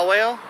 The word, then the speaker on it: Yowell: Like towel, but with a Y. Yeah. Yowell?